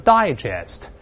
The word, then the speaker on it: digest: 第二个词当名词的时候重音在前面读成 digest 那是文摘